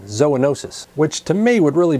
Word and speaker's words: zoonosis: several dictionaries though and zoonosis appears to be the preferred pronunciation however in one dictionary I did find a secondary pronunciation zoonosis which to me would